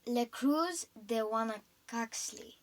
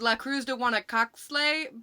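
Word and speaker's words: La Cruz de Huanacaxtle: how does it go again mom it's le cruz de wana coxley oh okay well yeah that one oh my gosh i used to i used to think of it as la cruz de wana cox slay but um that's not how you pronounce it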